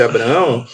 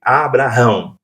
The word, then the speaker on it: Abraão: O H eh no hebraico, ele faz parte do nome de Deus. Ah, tá, né? Que era impronunciável. Uhum. O nome de Deus. Então o H ele tem um som mudo.